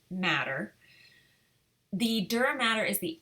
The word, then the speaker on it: mater: It's spelled mater, M-A-T-E-R, but it is pronounced matter.